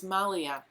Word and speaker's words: Maliha: say your name wrong I have to look at Mallya it's malya malya in California I'm so